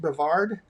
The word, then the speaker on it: Brevard: Brevard?